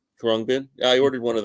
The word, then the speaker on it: Khruangbin: I ordered one of those albums from Khruangbin. How do you say that? Is the way I'm saying that properly? Yeah, Khruangbin. Khruangbin.